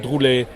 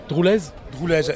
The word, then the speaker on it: Droulez: en scène par Gilles Droulet. Droulez, parce qu'il y a un Z. il y a un Z. Vous savez, selon la région où on se place, le Z est prononcé ou pas.